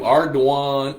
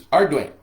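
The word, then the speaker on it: Ardoin: It's spelled A R D O I N. And I called him Arduan. Arduin. I It's Arduin.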